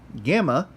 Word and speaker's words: gamma: you have there is gamma gamma makes a good sound never a soft G never a good sound always a good now if you put